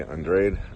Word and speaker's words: Andrade: That out of the last 10 fights, the lowest odds on a you say Andrade, I say Andrade. I use the Italian. I say Andrade. Was, Andrade is like the Spanish pronunciation, and Andrade.